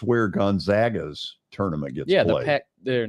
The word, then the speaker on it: Gonzaga: Well, it's where Gonzaga's tournament gets played. They're not Pac-12, Mountain West. Yeah, right. Gonzaga or the WAC, whatever the where are they today? Gonzaga, not Gonzaga.